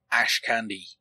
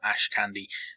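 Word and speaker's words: Ashkandi: both weapons are unknown Ash candy I'm not sure how to pronounce that one actually it's spelled a h k a n d i I'm going to call it Ash Candi because it's easy for me to pronounce it that way in World of Warcraft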